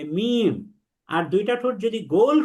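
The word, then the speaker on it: م: আর 2 ঠোঁটের যে শুকনা জায়গা অর্থাৎ যেটাকে আমরা পিঠ বলছি, এই দুইটাকে যদি মিলাই তাহলে উচ্চারণ হবে মিম।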